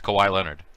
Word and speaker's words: Kawhi Leonard: is that you're talking about yeah yeah it's kawhi leonard rabid kawaii leonard that's kawhi leonard i didn't even know what